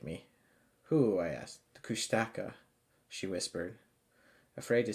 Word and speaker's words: Kushtaka: long time she believed the kushtaka often pronounced kustika were frighteningly real mainly